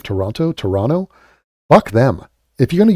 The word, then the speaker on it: Toronto: And apparently you're not supposed to pronounce the second T of Toronto.